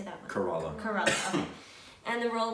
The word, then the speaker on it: Kerala: Kerala.